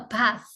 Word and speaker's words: bath: Take a bath, ya, bukan take. Take a bath. Bath-nya, TH-nya ada hembusan nafasnya.